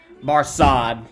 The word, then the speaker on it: Barsad: so much the better his name Mar sod said Defarge making it French by pronunciation by he had been